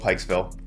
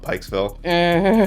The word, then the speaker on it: Pikesville: in a place called Pikesville when the first part of that word rhymes with the word you're not supposed to call us.